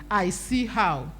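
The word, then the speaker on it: I'CHOW: So that's why you see my business name as I''CHOW. People pronounce it as I Chow, but it's actually I See How.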